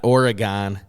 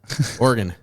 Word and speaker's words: Oregon: You got to say that right. You'll Oregon. get very upset. Not Oregon, Oregon.